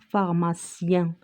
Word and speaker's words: pharmacien: Il faut distinguer entre IEN et ici EIN. Donc, c'est pas la même chose. Ici, ça se prononce IN et ici, c'est un. Comme le mot plein. Nous avons le mot plein. Et ici, on prononce pharmacien.